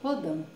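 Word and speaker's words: Rodin: gente veio aqui ó e como que ela é escrita e aqui no padrinho do lado você vai ter como que você pronuncia vamos lá o gostei rhodan ou gostei rodão que interessante né é um nome francês falando continuando falando sobre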